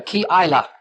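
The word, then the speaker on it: Keilah: better come up anymore to Kila to Killaya. See, did I say that right? That's a I have to look at it again. Yeah. Kila it's pronounced.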